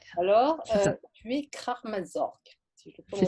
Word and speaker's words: Kraamzorg: ouais, Alors, c'est ça, tu es Kramazorg, si je le c'est prononce ça. bien de manière Kramzor. Kramzorg.